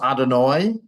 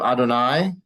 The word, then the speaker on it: Adonai: So sometimes you hear it pronounced Adonai instead of Adonai. Adonai is the Sephardic pronunciation. Adonai is the Ashkenazi pronunciation, the Eastern European Jewish pronunciation.